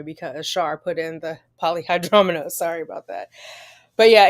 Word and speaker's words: polyhydramnios: Poly meaning many, much. Hydra meaning fluid. Amnios. Amnios. Okay, polyhydramnios. Okay, that makes sense. I was cutting the syllable in the wrong place. I was doing hydram.